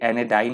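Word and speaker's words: anodyne: ये एनेडाइन है, ध्यान रखिएगा, वो यहाँ पे का यूज़ ज़्यादा नहीं है, साइलेंट है, एनेडाइन बोलेंगे।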